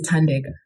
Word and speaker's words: Thandeka: know what my name is not difficult my name is tandega three syllables I think that's very